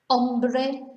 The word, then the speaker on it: hombre: different really um so remember not to pronounce h that's coming up with one of the tips uh later on ombre man ambre hunger ombro